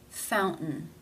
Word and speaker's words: fountain: In this word, it is followed by a schwa and an N sound. Therefore, it is pronounced as a stop. Fountain.